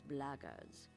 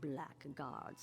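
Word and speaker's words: blackguards: another one of those blaggers and that's the way to pronounce it not black guards like that thug insisted it was then my answer is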